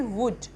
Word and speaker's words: would: WOULD, वुल्ड नहीं बोलेंगे इसको हम बोलेंगे वुड। एल साइलेंट क्यों होगा? क्योंकि एल लेटर से पहले हमारा यू वॉल है, और यू वॉल हो तो हमारा एल साइलेंट होता है, तो इसको हम पढ़ेंगे वुड।